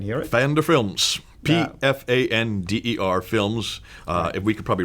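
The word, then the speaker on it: Pfander: cult fender and it's you you do pronounce the P who is my hero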